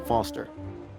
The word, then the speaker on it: Foster: pickle so does I'm Foster I'll remember that easy because your name rhymes with fossil and your old thanks